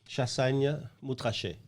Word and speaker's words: Chassagne-Montrachet: So this is, I can't pronounce that. Chassagne-Montrachet.